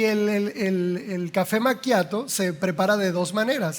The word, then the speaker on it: macchiato: A ver, todos, todos, todos, todos desde la macchiato, macchiato. Si no lo pronuncias así, no, porque eso de dame un caramelo malcriado no existe, ¿eh? No existe el caramelo malcriado, no existe. Macchiato, ¿verdad? Viene del italiano manchado, ¿bien?